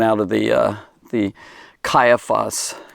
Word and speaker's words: Caiaphas: of the uh the caiaphas caiaphas or kaifus is another way of pronouncing it a house so